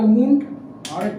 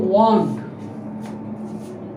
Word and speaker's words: wound: দেখো এই একটা উন্ড, আরেকটা দেখো WOUND, এটা খুব ভালো করে খেয়াল করে নিও। এটার উচ্চারণ হচ্ছে ওয়ান্ড, এর উচ্চারণ হবে ওয়ান্ড, আর এর উচ্চারণ হচ্ছে উন্ড, দুটো আলাদা মানে।